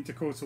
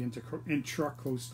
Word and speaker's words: Intracoastal: indicating that it's the Intracoastal water I can say it wrong all the time it's with an a but um and I'll